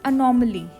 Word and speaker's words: anomaly: Correct pronunciation is अनोमली, अनोमली, ठीक है।